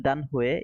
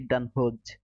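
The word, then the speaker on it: Danhøj: From Denmark, Z they use as Y. So Danhue is actually Danhoj.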